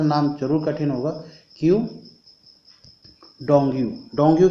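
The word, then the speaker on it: Qu Dongyu: क्यू डोंगयू। कौन है? क्यू डोंगयू। यहाँ पर थोड़ा सा नाम जरूर कठिन होगा, क्यू डोंगयू।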